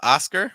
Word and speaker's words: Oscar: cool uh we have Oscar with a oscar osar aound at the start it's not o o it's more a very open Carl finished with a